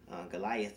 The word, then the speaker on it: Goliath: Goliath a goalie act Goliath is how we pronounce it Americans from the ranks of